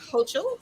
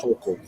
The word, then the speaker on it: Hochul: You know, Governor Hochul, is how you say her name? Hokel.